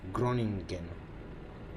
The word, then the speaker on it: Groningen: I forgot the pronunciation. Groningen. Yep, that's Groningen.